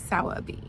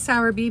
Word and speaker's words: Sowerby: were saying it like they dropped the r entirely so sour B Auer B but we're gonna go with sour B because that is the uh American pronunciation so there's a record